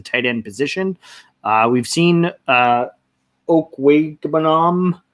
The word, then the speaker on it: Okwuegbunam: We've seen Okwuegbunam. Did you say Banam like the snowman? Yeah.